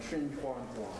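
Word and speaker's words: Trinh Xuan Thuan: Matthew Ricard and Trin Huan Huang.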